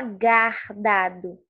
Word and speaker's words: guardado: Bom, a palavra guardado. Você não fala guardado. Você fala o som do U. Então, aqui o U é pronunciado.